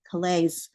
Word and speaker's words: Calais: but I was from Calais, Maine, spelled like Calais, France, said like the rough patches on the mill workers' hands.